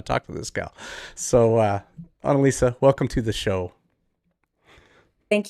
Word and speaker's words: Annelise: So, Annelise, welcome to the show.